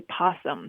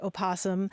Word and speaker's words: opossum: Yeah, no, the O's not silent. It's two versions of the same word.